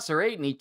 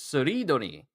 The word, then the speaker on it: Tserriednich: That's his So So it's not Serenite, it's Seridonic. So I've been mispronouncing his name this whole time.